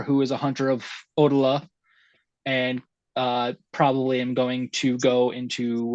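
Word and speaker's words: Odayla: having the mentor who is a hunter of odala and uh probably I'm going to go into uh that cult myself Kent uh from Drew and chat it's usually pronounced odyla okay no dialer okay okay thank you is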